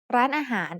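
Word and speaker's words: ร้านอาหาร: The first syllable has the initial low-class consonant r อ เ ร ื อ with my-to added above it to give it a high tone. The second syllable is a mid-tone, and the last syllable is a rising tone, han, that starts with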